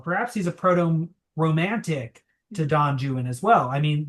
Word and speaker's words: Don Juan: he's a proto-romantic to Don Juan as well. I mean, this is a Spanish hero right? Though he's made a little English in the pronunciation in order to fit it.